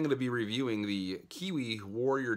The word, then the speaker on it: QiYi: my first cube review i'm reviewing the Kiwi warrior w 3x3 I'm sure it's pronounced way different than that but to me I like using the word Kiwi you know Qi WI so it's just it's just fun to say I'm so started so